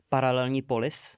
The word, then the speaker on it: Paralelní Polis: There's probably some context we can provide here, but how do you pronounce it? Paralelní Polis.